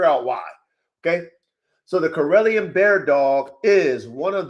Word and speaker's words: Karelian: Corellian. Corellion. Corellian.